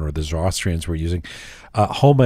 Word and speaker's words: Haoma: HOMA is spelled HAOMA, HOMA.